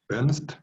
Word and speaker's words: Ernst: ¿Cómo se pronuncia su apellido? Ernst.